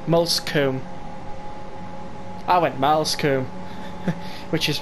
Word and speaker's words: Moulsecoomb: And I have checked that it's the right way you pronounce it, Moulsecoomb.